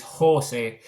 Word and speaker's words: Jose: or Jose, because my name doesn't have a stress. It doesn't have an accent on the final E, which is a common way. It's a name without it. So it's Jose. It's like the Spanish pronunciation rather than the traditional pronunciation.